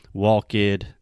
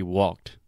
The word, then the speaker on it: walked: So just like you were saying, like walk id, talk id, when in reality it should just be walked, talked, right?